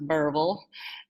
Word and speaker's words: Berryville: where that lovely little town is up near berryville eureka springs of course is pronounced burble and yorkie springs harrison in that area and